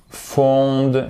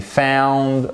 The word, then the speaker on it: found: Là aussi, diphtongue. C'est pas found, c'est found.